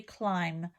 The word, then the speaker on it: climb: Remember, the B is not pronounced, so it would be climb.